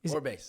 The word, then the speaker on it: Orbase: Orbase. Orbase. Okay, Yeah. I didn't know if it was Orbase or Orbase. Orbase, they'd probably say it like that in the Philippines.